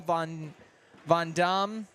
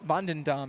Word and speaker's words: VanDam: senior singles Champion Paul V vam and we also VanDam actually sorry I missed the extra syllable in there and then of course